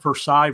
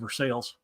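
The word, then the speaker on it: Versailles: would call it Lebanon just like I call Versa Versa instead of versales yeah right it's Versa um also I don't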